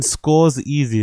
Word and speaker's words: Scorsese: Martin scores easy is crazy. Is that how he pronounces it?